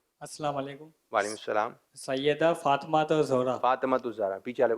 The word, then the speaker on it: فاطمہ: اچھا یہی چل رہا ہے، یہ نام مبارک جب بھی لیا جاتا ہے زیادہ تر لوگ اس طرح لیتے ہیں فاطمہ، فاطمہ. یاد رکھیں صحیح تلفظ ہے، طا کے نیچے زیر ہے. فاطمہ کیا کہیں گے؟